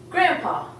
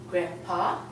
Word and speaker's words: grandpa: Except we don't even say the D when we say it. We say grandpa. So we're actually omitting the D and just saying grandpa or grandma.